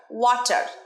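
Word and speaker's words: water: রটা উচ্চারণ করবে না, প্রত্যেকটা ভিডিওতে আমি বলে থাকি শব্দের শেষে র উচ্চারণ হবে না যদি স্মার্ট ইংরেজি শিখতে চাও।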